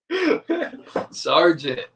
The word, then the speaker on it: Sargent: Okay, it sounds like you're saying fucking like you're pronouncing the G. Oh. Well, there is a T at the end of that.